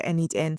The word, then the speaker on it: n8n: By the end of this video, you'd have a clear understanding of where n8n fits in the automation landscape and when to choose it for your own projects or your own business workflows.